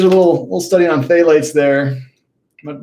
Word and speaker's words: phthalates: little little study on phthalates there i'm not even sure if i'm pronouncing that correctly i think it's phthalates i think the p is silent i believe um and uh let's